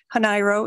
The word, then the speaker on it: Hanairo: a little personal context if you've ever wondered about my last name where it comes from how it's pronounced hanairo is a Filipino name I'm a hanairo by